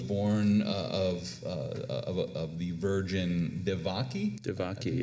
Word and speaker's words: Devaki: Devaki, That's how you pronounce this.